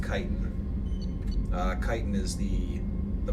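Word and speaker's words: Chitin: By the way, that's pronounced Kitan.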